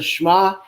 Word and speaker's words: Shema: shma is correct and it is pronounced is pronounced the shema and it is pronounced uh very very very